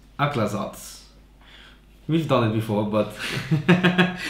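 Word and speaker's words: Aclazotz: Hey, how do you pronounce it? Aklathos. Aklathos.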